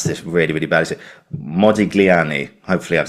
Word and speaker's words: Modigliani: other platforms talking about um I'm going to mispronounce this really really badly. Modiglani hopefully I've said that correctly. You did Modiglani.